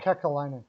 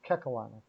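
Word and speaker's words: Kekäläinen: How do you pronounce the GM's name again? Oh, Kakalainen? Kekalainen.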